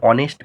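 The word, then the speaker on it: honest: এরপর দেখো রয়েছে অ্যান অনেস্ট ম্যান। তা দেখো, অনেস্টের এর উচ্চারণ সাইলেন্ট আছে, ও থেকে উচ্চারণ হচ্ছে, এই জন্য এর পূর্বে কি বসাবো?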